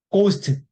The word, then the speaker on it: ghost: GH 다음 모음. ghost. 예, ghost, 예. ghost. GHOST. ghost. HOST. 예, ghost. 예. 거기 지금 보면 GH가 뭘로 납니까? 기억으로 나죠? 예, 죄송합니다. GHOST, ghost. 예, 그렇게 발음합니다.